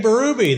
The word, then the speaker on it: Berube: and his family the B everybody they're they pronounce it baru now but everybody called him BBY back home Craig BBY and his father Roger